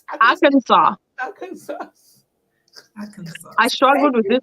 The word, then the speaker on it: Arkansas: From US, how do you pronounce that name again? Arkansas. Arkansas.